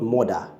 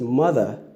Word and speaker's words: mother: And then you have mother, my mother, not mother. You know, it's mother.